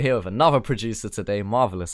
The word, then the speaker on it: MRVLS: I nailed it. Marvelous. That is how you pronounce it, right? That's how you do it. Yeah, that's how you say it.